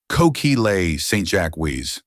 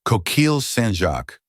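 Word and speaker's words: coquilles Saint-Jacques: It's pronounced coquil sanjac. It's not that difficult, he said it with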